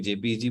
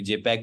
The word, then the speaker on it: JPEG: दोनों तरह के नाम प्रोनाउंसिएशन होते हैं, कोई JPEG बोलता है, कोई जेपैक बोलता है।